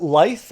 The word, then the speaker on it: lithe: So is it lithe or is it live? Lithe. Lithe. I say soft th.